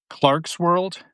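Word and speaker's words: Clarkesworld: Uh, how do you pronounce it? Clark's World. Clark's World.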